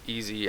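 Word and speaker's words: EES: dad liked to he actually pronounced it easy it stands for Elizabeth equipment Services Incorporated it's a trucking company that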